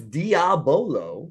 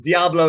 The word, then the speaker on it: diabolo: while wait what's Diablo so it's diabolo yeah I saying it wrong I say wrong Diablo is of course yes